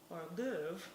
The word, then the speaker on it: hors d'oeuvre: hors d'oeuvre.